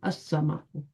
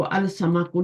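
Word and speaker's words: السَّمَكُ: अल नजमु जो होगा वो बिकम्स अन नजमु, अर रजुलु, अद्दीकु, अल अस्समाकु। इसको अल समाकु नहीं पढ़ना।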